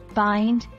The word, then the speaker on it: bind: important to note that bind rhymes with mind and yourself is pronounced